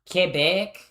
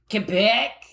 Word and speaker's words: Quebec: Um it's pronounced Kebec. Kebec.